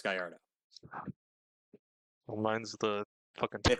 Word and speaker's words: Gallardo: a lot of people here in America pronounce it the Gelato, but it's actually pronounced Gallardo.